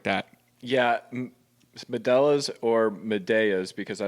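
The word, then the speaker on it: Medalla: were right they're called medas medas something like that yeah melas or medas because cuz I don't know so two L's makes like a y sound but I just don't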